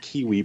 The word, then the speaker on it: KWE: She likes to pronounce it Kiwi Publishing.